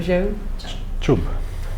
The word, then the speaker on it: Jangchub: So, Jang you can do. Jang, podemos fazer Jang. Like John or Jang. Jang ou Jang. Chub. Chub. Jangchub.